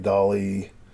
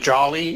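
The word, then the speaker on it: DALL-E: GIMP, or you said Jolly is Dolly. So Dolly. I'm neutral. So there's some that are free. Dolly? Yeah. So like Salvador Dali. Okay. So there's some. It's spelled different. Yeah, though. it's spelled different, but that's what they're playing off of.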